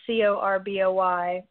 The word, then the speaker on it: Corboy: His name is Matt Corboy, I'm assuming is how you pronounce the last name. It's Corboy. He's great.